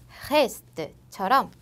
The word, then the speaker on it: reste: 으 하고 벌리는 것이 아니라 입을 동그랗게 마른 상태로 으 하는 발음으로 뿌지라고 해주시면 되고, 그 다음 으 다음에 자음이 2개 이상 오는 경우에는 merci, reste처럼 에 발음이 나요.